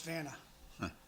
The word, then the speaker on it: Vanna: But Vana Vana Howard. Oh man. So I'm sorry. Vanna White grabbed that. It's spelled the same as Vanna White. Yeah. Yeah. So it's Vanna.